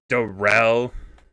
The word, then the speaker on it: Daryl: My name is Darrell. It's spelled like Daryl, but we pronounce it Darrell.